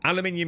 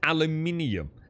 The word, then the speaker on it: aluminium: Well, it's aluminium. Aluminium is how everything including the entire world like magnesium and aluminium and potassium. Yeah. like how everybody pronounces it apart from America who just has a real problem with vowels.